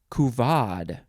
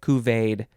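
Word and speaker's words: couvade: etymology it's the same next word is kuvad c-o-u-v-a-d-e it looks like cuveed but it is kuvod noun from 1865 a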